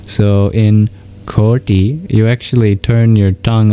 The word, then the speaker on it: koti: The t with a dot under it is retroflex meaning you curl your tongue backwards to pronounce it. So in ki you actually turn your